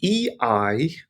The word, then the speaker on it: Ei: So if it's EI, then it's pronounced I overall. So here we have the word das Ei, which means the egg.